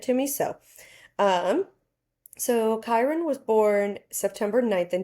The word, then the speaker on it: Kyron: How is his name pronounced? Cuz I didn't. Kirn.